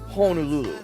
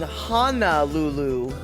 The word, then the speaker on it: Honolulu: u l u you know and you should pronounce it via that spelling honululu however on aahu the bays and the inlets